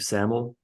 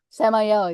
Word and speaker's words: Samael: and Eve, but instead of an archangel named Samael. Samael, yeah. Samael. Yeah, I keep mispronouncing it.